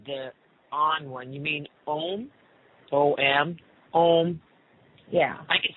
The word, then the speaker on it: Om: You mean Om? O-M? Om? Yeah. I can spell that one.